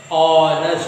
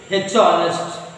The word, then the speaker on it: honest: We won't pronounce h. So h is silent. You won't say h honest, wrong.